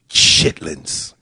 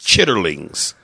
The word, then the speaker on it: chitterlings: eat chitlins and it's pronounced chitterlings but you know black folks chitlings baby you know who